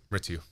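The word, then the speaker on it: Mrityu: And you've had this project, Mritu. Mm-hmm. Did I pronounce that right? Yep, Mritu.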